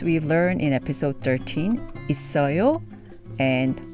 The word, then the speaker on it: 있어요: So we have it, 요, which is pronounced 있어요, 있어요, 있어요.